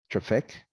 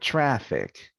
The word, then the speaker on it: traffic: to identify words again it is very important i cannot say traffic but traffic the vowel in the